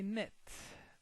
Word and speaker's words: knit: The first vocabulary, knit. As you can notice here, the K is silent.